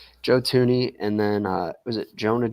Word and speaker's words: Thuney: Trade for Joe Thuney, or is it just Joe Thuney? Am I just silent H? Thuney? I think it's silent H. Joe Thuney, and then was it Jonah Jackson?